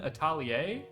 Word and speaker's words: Atelier: I believe Rune Atelier. I'm gonna assume it's pronounced Atelier because that's the French pronunciation of the word.